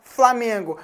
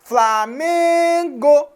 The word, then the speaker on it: Flamengo: k é a sílaba mais forte você fala Flamengo Flamengo então o meio é a sílaba tônica da palavra Flamengo Então você entende que